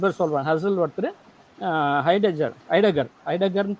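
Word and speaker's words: Heidegger: ஹசல் ஒருத்தர், ஐடகர்னு ப்ரொனவுன்ஸ் பண்ணுறாங்க, அதை HEIDGER ஐடகர் அப்படின்னு ப்ரொனவுன்ஸ் பண்ணுறாங்க. ஏன்னா அவங்க யூடியூப்பில் அப்படி தான் பேசுகிறானுங்க, நான் பார்த்தேன் அதை.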